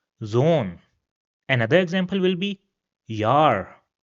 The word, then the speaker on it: Zone: So that's why it will also have a long sound. It will be pronounced as Zone.